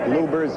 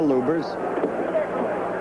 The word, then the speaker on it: Lubbers: Or Lubbers. It's pronounced both ways. Lubbers is probably more technically correct. Anyway, it's the way Rudi wants it said.